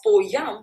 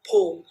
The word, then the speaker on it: poem: Oh, this word is neither pronounced as po yam with the y sound and nor poem. All right, this word has two syllables and you can either choose to pronounce it as poem.